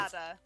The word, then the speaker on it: Nevada: Nevada. That one is Nevada, or Nevada. Excuse me. Nevada. No, because it is actually pronounced Nevada, but I pronounced it Nevada my whole life, so I'm like Same.